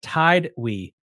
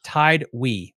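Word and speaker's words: Tidewe: And he says it's actually pronounced Tidwee. That makes so much more sense than whatever thing I just said. Tidwee.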